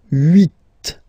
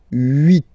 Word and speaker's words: huit: Okay, then here final T is pronounced, so huit, huit.